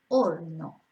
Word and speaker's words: horno: Again, we don't pronounce the H, so it's horno.